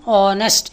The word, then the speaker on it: honest: இந்த 2 சொற்றொடர்களையும் ஆன் ஏன் போட்டிருக்கோம்னா, ஆன் ஆனஸ்ட், இந்த ஹெச் இருக்கே அது சைலண்ட், அதை உச்சரிக்கக்கூடாது.